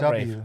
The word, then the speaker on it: Ralph: If you want to be called Rafe, if your spell nose it- starts bleeding, it means you're picking it too much or not enough.